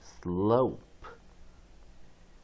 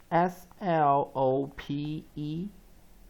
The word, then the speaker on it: slope: P，把 O 拉成长母音 slope。 Again SLOPE consonant vowel consonant E vowel consonant E 跳过 P，把 O 拉成长母音 long vowel O as O slope slope。